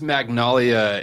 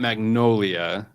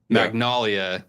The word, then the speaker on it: Magnalia: And that is Magnalia. It's not Magnolia. So Magnalia, get to spell it correctly.